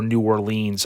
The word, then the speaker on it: New Orleans: through the 30th in New Orleans so or New Orleans as some pronounce uh basically that's in